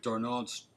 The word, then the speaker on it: Darnold: Yeah, with Darnold's, how do you say his name?